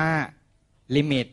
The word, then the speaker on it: lim: นะ ครับ ไฟ ลักษณ ตัว นี้ อ่าน ว่า ลิมิ ถูก ไหม ครับ บาง คน ยัง เรียก หลิม อยู่ เลย นะ ครับ ชื่อ ชื่อ